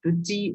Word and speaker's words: petit: And feminine singular form of this adjective, petit, is petite. We are pronouncing this adjective petit because this last letter is silent in this.